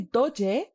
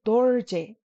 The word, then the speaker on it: Dorje: But the very common name dorje, we don't say doje, we say dorje.